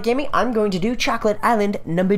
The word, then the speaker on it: chocolat: All right, so next time on Catatonic Gaming, I'm going to do Chocolate Island number D.